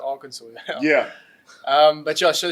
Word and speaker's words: Arkansas: Kansas, but they say Arkansas. It's pronounced Arkansas.